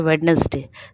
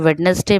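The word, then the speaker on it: Wednesday: करना है कैसे जैसे वेडनेसडे तो वेडनेसडे में वेड नहीं बोला जाता है ना तो ये जो डी आपका है व साइलेंट है साइन साइन में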